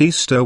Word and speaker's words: Ishtar: a festival called easter ishtar which is pronounced easter was a day that